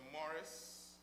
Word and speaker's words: Morris: And in fact, Maurice in Guyana is pronounced as Maurice, correct? Yes. And Morris is pronounced as Morris.